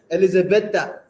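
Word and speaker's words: Елизабета: It's Elizabetha, as they pronounce it in their own language.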